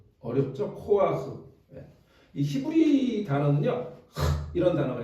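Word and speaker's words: כֹּחַ: 코아흐 코 예 어렵죠 코아흐 예이 히브리 단어는 이런 단어가 있어요 근데 우리가 발음할 수 없는 단어들이이 사람들의 그 구강 구조와 우리가 다른지 모르지만 이렇게 해갖고 이게 약간 위에서 이렇게 붕뜨는 느낌의 발음인데 어쨌든 코아흐 그러니까 우리가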